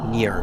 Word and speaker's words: Nirn: So I'm gonna go like psst, psst, trying to get is it Nirn? Is that how you say it? Yes, near. Okay. Like with a Yeah. Y.